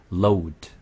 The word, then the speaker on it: load: 그 다음에 load. Load. L. L 발음이고 R 발음은 road. Road.